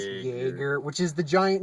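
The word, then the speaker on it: Jaeger: and it's the terms there's joerger which it's basically pronounced how it sense Jagger which is the giant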